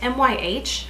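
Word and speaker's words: MYH: The brand, by the way, is My Cosmetics, M-Y-H, I think it's pronounced My.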